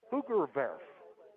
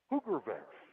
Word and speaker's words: Hoogerwerf: That is number 20, Hoogerworth, on the carry. Now, if I was using my German pronunciation, that is actually pronounced Hoogerwerf. Hoogerwerf.